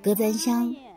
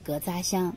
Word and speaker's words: 格咱乡: 对，隔簪香在汉语里是这样发音，但是他们本地人他们会把它叫做隔扎香，我觉得这个更顺口一些。